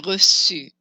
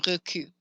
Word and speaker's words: reçu: An example would be reçu. Reçu has a hard C sound, a soft C sound. If I forgot the cédille, it would be pronounced recu.